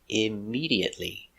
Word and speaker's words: immediately: 5 syllables. Immediately. Stress on the second syllable.